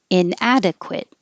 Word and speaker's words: inadequate: So remember the QU in the middle of a word or at the beginning of the word will sound like a KW. So you need to round your lips. Quit, inadequate. If the QUE is at the end of a word, it's just a K.